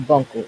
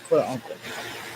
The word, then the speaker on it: furuncle: It's not bunkle, it's furuncle. It's FURUNCLE. Disorders, dermatitis.